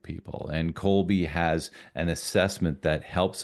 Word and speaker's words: Kolbe: Yeah, you know, one of the things that I did uh several years ago is I became a certified Colby coach. And Colby is spelled Kolbe.